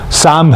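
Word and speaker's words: psalm: यहां पर P silent है। पी और एल साइलेंट है। तो इसका प्रोनंसिएशन साम है।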